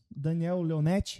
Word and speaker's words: Daniel Leonetti: Vamos lá para a apresentação do nosso convidado, Daniel Leonetti, é assim que se pronuncia? É assim mesmo.